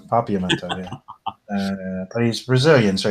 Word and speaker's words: Papiamento: Like he's learning like Georgian and Hebrew and Pimento, Papiamento. How do you say that? Papiamento. That's the one, Papiamento.